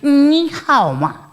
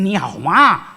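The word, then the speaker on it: 你好吗: मतलब हाउ आर यू निहाओमा ऐसे ही बोला जाएगा निहामा ऐसे नहीं बोला उसका मतलब ही चेंज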